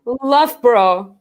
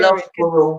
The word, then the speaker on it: Loughborough: Loughborough, Loughborough, where Loughborough. it's like a whole word. Why is that whole word there? Loughborough.